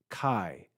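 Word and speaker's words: καί: or or lower pitch it's unstressed unaccented it's pronounced Kai Kai notice the D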